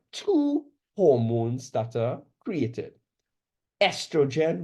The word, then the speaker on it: estrogen: Estrogen, remember the O is silent, and progesterone.